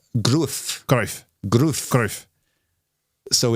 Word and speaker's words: Gruev: understand, listening to it, where the confusion has come from between Gruev, which is what we thought it was, and then Gruev, where they're rhyming with Cruyff, which is what Brinlaw, because it's kind of a bit of a combination of the two.